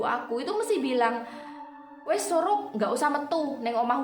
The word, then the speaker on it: Sorop: berjudul sorop judulnya sorop tulisannya Emang benar s o r o p tapi bacanya bukan sorop ya bacanya surup surup itu berasal dari bahasa Jawa yang artinya sendekala sendekala